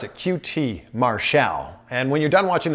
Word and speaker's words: QT Marshall: Yeah, that's how you pronounce it, QT Marshall.